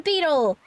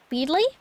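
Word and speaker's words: Beedle: of us happy Hunting now to Beetle beetley I've never been sure I normally stick with beetley because if you wanted it to be pronounced Beetle he should have spelled it like the bug come on I can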